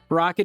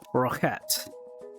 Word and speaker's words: roquette: But the problem with calling it rocket is it's a mispronunciation of the French roquette. If you're gonna call it that, call it roquette.